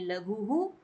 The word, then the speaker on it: लघुः: तो जब हम इस विसर्ग का प्रोनाउंसिएशन करेंगे तो ये उ की साउंड हमारी इस हा के साथ में ही आएगी, यानी हम इसको कैसे पढ़ेंगे? लघु, लघु हु, ऐसे पढ़ेंगे, लघु ह नहीं पढ़ेंगे।